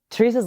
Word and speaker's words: Teresa: I always go between saying Teresa and Teresa. So if I do a little hybrid, it's because I'm like shy to say it in the Spanish way because I'm like, am I saying it right?